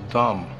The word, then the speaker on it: Dam: of town this place is called Dam D Dum the stel river used to flow right through